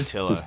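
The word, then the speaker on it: Pietila: Paitila? Is that how you say his name? Paitila, yeah.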